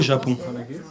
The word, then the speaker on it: Japon: Non, au Japon.